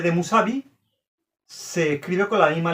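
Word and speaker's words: Mousavi: La u escrita como vocal se lee u, pero la u escrita como consonante se lee como una v. Musabi. Esa V de Musabi se escribe con la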